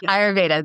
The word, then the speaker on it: ayurveda: have trouble saying that am I saying it right thanks ell yes ayurveda that's correct yeah definitely so cool